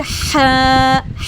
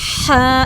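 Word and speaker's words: حاء: इसको हमने ऊपर ऊपर से अदा नहीं करना, इसको हमने मजबूत आवाज़ से हा, हा मिडल थ्रोट से अदा करेंगे। इस पर pronounced from the middle of द हा, हा, हा। Throat with a strong sound के साथ अदा करेंगे।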